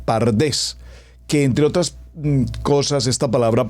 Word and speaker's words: PaRDeS: y de allí repito se agregaron dos vocales la a y la e para tener la palabra pardés que entre otras esta